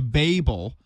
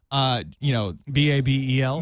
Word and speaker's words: Babel: And this book will actually be called The Babel. Babel. Babel. Yeah. Because I was, there's another book. Similar title. This just has a long A in it.